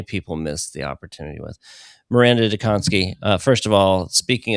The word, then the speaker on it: Maranda Dziekonski: Miranda Donssky, uh, first of all, speaking of studying, you